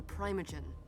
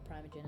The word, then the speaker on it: primogen: So you'd be confused at this point if you didn't know what a primogen is, or sorry, primogen as they pronounce it, and a harpy is.